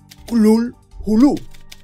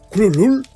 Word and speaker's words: Cthulhu: humanas que podrían registrarlo, sería algo así como Cthulhu, pronunciando la primera sílaba de manera muy gutural y densa. Cthulhu, o algo así.